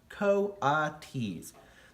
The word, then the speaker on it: coatis: pigs or raccoon dogs these are coyotes miss Brisbane sue said reading from the letter pronounced coatis the cotys looked weird miss